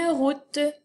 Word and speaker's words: route: Une route. Alors, ça s'écrit R-O-U, donc toujours ton équipe O-U qui fait le son OU. T-E. Donc, encore une fois, ici, le E, il est muet, je ne l'entends pas, mais il est bien